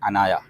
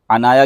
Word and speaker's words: عنایا: بھی بڑا وائرل ہے۔ عنایا کے بھی دو تلفظ ہیں، عین کے ساتھ اور الف کے ساتھ۔ الف کے ساتھ عنایا